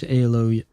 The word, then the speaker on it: Aloy: Yeah, I think her name is pronounced Aloy, right?